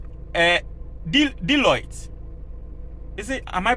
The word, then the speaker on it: Deloitte: Once I told you, say, Deloitte, is it? Am I pronouncing it well? Deloitte, yes.